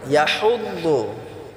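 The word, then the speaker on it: يَحُضُّ: ইয়াহুদ্দু, এই হাটাকে আমরা গলায় চাপ দিয়ে উচ্চারণ করবো ইনশাআল্লাহ। ওয়ালা ইয়াহুদ্দু বললে হবে না,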